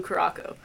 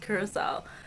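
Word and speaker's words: Curaçao: alcoholic liquid, everyone I know calls it blue Caraco.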